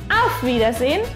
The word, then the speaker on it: Auf Wiedersehen: Tenemos A, U, F, que se pronuncia tal como está escrito. Auf. Auf. Luego tenemos una B, doble, que se pronuncia B. B. La I, E, ¿se acuerdan? La I está delante, entonces no pronunciamos la E. I. Y después tenemos D, E, R. D y E pronunciamos tal como en español y la R está delante de un consonante, así que la pronunciamos como una A. Dea. Dea.